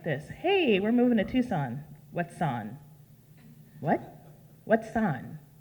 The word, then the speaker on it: Tucson: are moving to Tucson how do you spell that tu si s o n you spell tuckson it's pronounced Tucson we're moving to a